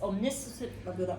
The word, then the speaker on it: omniscient: That was very different because the fairy's tale is third person and it's omniscient.